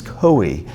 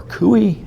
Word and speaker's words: Coie: And specifically, we're asking for records of FBI meetings with the Clinton-DNC law firm Perkins Coie, or Coie, it's an odd name, it's spelled C-O-I-E, in 2016.